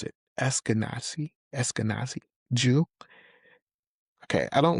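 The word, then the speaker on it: Ashkenazi: It seems that you are an how do you pronounce it? Essenazi.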